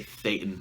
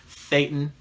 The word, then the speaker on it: Thetan: I say Thetan. For some reason on the videos I like to pronounce my T's. Thetan. You're a Thetan, and you are essentially natively godlike.